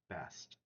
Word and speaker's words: Bast: Sometimes spelled with an additional ET at the end, but always pronounced Bast.